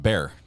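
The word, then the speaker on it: Bexar: have um it's pronounced bear wow and I and I thought I knew some towns that were pronounced weird weirdly what is just a silent X that's that's pretty funny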